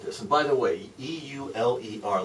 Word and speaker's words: Euler: and by the way, E-U-L-E-R, looks like it ought to be Euler if you're an American. If you're German, that's pronounced Euler, so that's how I'm going to pronounce it.